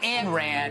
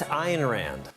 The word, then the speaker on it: Ayn Rand: Ayn Rand, not Ayn Rand. Ayn Rand, Ayn Rand. I'm told it's Ayn Rand.